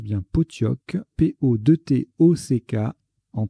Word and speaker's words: pottok: sait transforme la sera en classera ça se prononce bien pottok po2 théo ces cas en 3 c'est pour